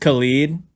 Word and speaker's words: Khalid: Khaled has an E, and then Khalid has an I, so it's a little different. But there's definitely Khaleds out there that are